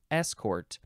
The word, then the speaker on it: escort: next word is escort we're emphasizing the S escort um be this is